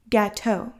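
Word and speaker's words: gâteau: mccluskey don italian forcer gateau french for pastry with cream pronounced gateau saborga pronounced saborga i live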